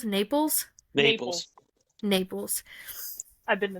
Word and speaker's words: Naples: style to it that originated in I always pronounce this wrong napples Naples Naples Naples I've been to Naples yes and